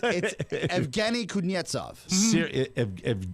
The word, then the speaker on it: Evgeny Kuznetsov: Evgeny Kuznetsov. You got it. There you go. You're such non-sports guys. No, we actually did a pronouncer before the show. It's Evgeny Kuznetsov.